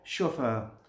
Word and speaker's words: chauffeur: इसी तरह से CHAUFFEUR, अब CHA आ रहा है यहाँ पे और यहाँ प्रोनाउंसिएशन क्या है, शोफर, ठीक है।